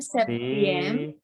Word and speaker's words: septième: septième, Pakai Z ya jadinya, itu bunyinya Z. Sixième. sixième, Mhm. septième, huitième. Di situ ada P, tapi P-nya nggak ada sama sekali di pelafalan. Septième. Septième. Oui.